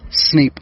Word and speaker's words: Snape: and his name is Snape, and Snape rhymes with snake. It just has one letter, a K to a P.